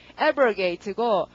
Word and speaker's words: abrogate: 자, 그다음 그 뒤로 가시고 발음은 강세가 앞이고요. 발음이 abrogate고 멀리 가라고 요구하다니까 이게 폐지하다가 됐다.